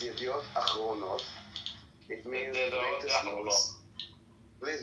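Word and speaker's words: ידיעות אחרונות: It's not Yachronot, okay? It's Achronot with an Aleph at the beginning. And it's kind of cute that you both kind of pronounced it, and you both pronounced it wrong. It's Yediot Achronot.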